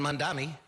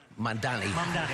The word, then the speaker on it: Mamdani: And Mondani said it right? Mamdani, almost there.